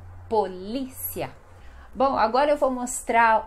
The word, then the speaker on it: polícia: Depois nós temos polícia, que em espanhol seria policia, mas no português é polícia. Então a sílaba mais forte é no li, polícia.